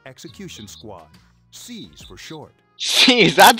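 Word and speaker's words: SEES: C's, that's how you say it.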